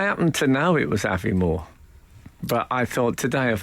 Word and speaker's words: Aviemore: I'm sorry to write in on your day of celebration with a correzione, but Aviemore is pronounced Aviemore.